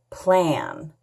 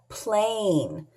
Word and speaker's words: plane: at the picture and add the silent e so it makes sense like right now what does this word say hmm plan is this a plan oh no what is it right it's a plane so how do we